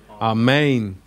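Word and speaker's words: ἀμήν: this word that's right our main our main the accent is on the eight ER our main what does our main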